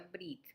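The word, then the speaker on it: ברית: Y la expresión que se usa en hebreo para hacer un pacto es karat brit, aunque aquí dice berit, pero se pronuncia brit.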